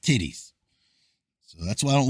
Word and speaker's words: Tethys: These came forth from Ocean and Titis as the oldest, I would call it Tethys, but it apparently pronounced Titties.